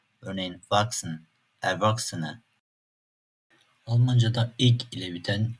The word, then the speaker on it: wachsen: Çok fazla olmasa da "ch" sesinden sonra "s" harfi gelebiliyor. Bu tür durumlarda "k" gibi okunabiliyor. Örneğin "wachsen, Erwachsene" Almancada "-ig" ile biten çok fazla sözcük var.